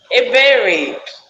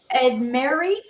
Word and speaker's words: Ebere: And tell us, so we don't ruin your name, how do you pronounce your name to everyone? Ebere. Edmary?